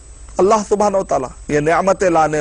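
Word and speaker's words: الله: अंदर अल इलाह था लेकिन जब प्रोनाउंस होता है अरब के लोग जब प्रोनाउंस करते हैं तो स्टाइल में अल्लाह और यही चीज कुरान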